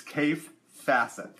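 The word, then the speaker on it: Kaffe Fassett: time um cafe laughs his name is pronounced cave and so just so you know its cave facet that's the way you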